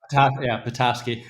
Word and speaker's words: Petoskey: How do you pronounce it? Petoskey.